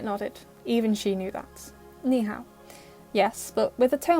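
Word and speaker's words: 你好: knee how was written you see above the eye and above the a is the third toe marker so on both syllables you go down and then you go up so the first one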